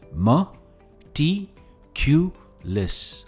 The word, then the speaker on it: meticulous: इसकी प्रोनाउंसिएशन है मटिक्यूलस। हम टी पर स्ट्रेस देते हैं, मटिक्यूलस।